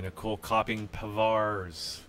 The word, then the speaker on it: Nicolle Kopping Pavars: And we are now joined here at the table by Nicolle Kopping Pavars.